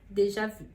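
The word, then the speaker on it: déjà vu: ou menos isso então sairia de já vir deixar vir de já vi esse é o termo a mais correto né a pronunciação mais correta do termo Dejavú acho que esse eram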